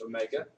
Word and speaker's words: omega: letter Omega looks like a W but it's pronounced Omega okay those units would be radians per second